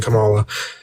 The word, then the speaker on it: Kamala: Kamala, yeah.